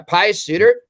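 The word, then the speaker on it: Pius Suter: you know pious suit i might pronounce it sooner like ryan suiter yeah pious suitor that is a great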